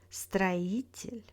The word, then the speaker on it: строитель: In words with тель, stress falls on the syllable before тель. This one is the most reliable rules in Russian. For example, учитель, строитель, водитель, обстоятельства.